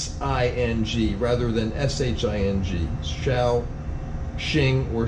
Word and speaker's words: Shaoxing: rather than SH ing shall Shing or shall Z the X being pronounced like a Z okay so that's also